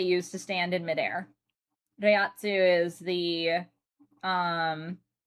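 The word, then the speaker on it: Reiatsu: Um, is it Riatsu that they use? Rayatsu, I should say.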